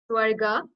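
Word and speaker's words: स्वर्ग: into three parts swarika swarga means heaven so it's a long ah you can see like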